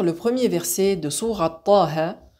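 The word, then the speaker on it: طه: premier verset de sourate Taha, je le lis de la façon suivante. Taha. Et je ne le lis pas Taha, car ce sont des lettres qui se prononcent avec une lettre de prolongation finale.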